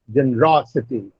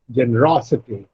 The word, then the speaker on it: generosity: Ro is the third syllable from the last, so generosity.